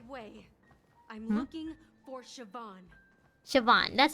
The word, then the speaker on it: Siobhan: Siobhan, that's how you pronounce it.